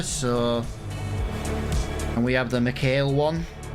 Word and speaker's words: McHale: So, and we have the McHale one. It doesn't sound right when I say it fast, McHale. I know I'm saying it right, but it just sounds wrong.